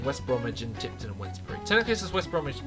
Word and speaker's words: Wednesbury: Tipton and Wednesbury, Wednesbury, it sounds like Wednesday and Wensleydale.